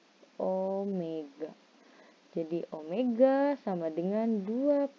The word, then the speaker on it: omega: kita lambangkan dengan W Tapi bacanya bukan W Tapi bacanya Oh Omega jadi Omega sama dengan